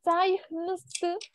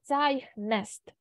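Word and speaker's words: zeichnet: І буде не цайхнст, навіть не звучить так. Ми будемо вимовляти цайхнест. Цайхнет.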